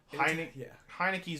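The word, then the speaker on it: Heinicke: Yeah, Taylor Heineke.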